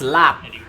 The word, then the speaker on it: larb: Pronounced lab. Oh, lab. Lab.